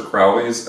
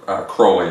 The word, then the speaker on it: Crowley: alist probably and uh or Crowley I think is is actually how you pronounce that um and the